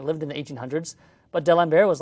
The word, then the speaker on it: D'Alembert: D'Alembert?